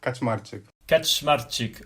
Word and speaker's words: Kaczmarczyk: the foreigners for us it's super easy to pronounce but okay so my full name is catch smart chick okay oh okay that's easier than I thought